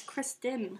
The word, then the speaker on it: Kristen: keep calling her Christian that's her name it's Kristen that's Harvey my dog hi Harvey he's making